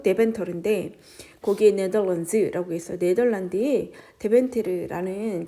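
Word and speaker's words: Deventer: 자, 근데 어디 위치가 되어졌냐면 in the city of 음ent 그디ent 디ent터가 어디냐면 그지 데베데벤터르이 뭐 이렇게 얘기해 데벤터르 뭐 네덜란드 발음으로 데벤터르인데 거기에 네덜란즈라고 했어 네덜란드에 데벤트르라는 도시가 있는데 그 도시에 위치한 어 그 노란색 벽돌 집이래요.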